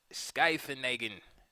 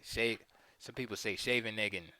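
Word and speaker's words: Scheveningen: And this, my friends, is known as the Skyfenagen formation. Some people say Shaveneggen, but I think it's pronounced Skyfenagen.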